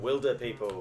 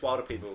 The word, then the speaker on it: Wilderpeople: Wilderpeople. Pretty sure it's Wilderpeople. Wilderpeople. It's spelled W-I-L-D. Like wildebeest.